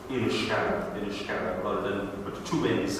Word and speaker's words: Inniscarra: And Inniscarra, not too far away, is spelt with just one N and with a H. And again, I think that would probably match the pronunciation of the local people, Inniscarra, rather than with two N's that you'd often see it with.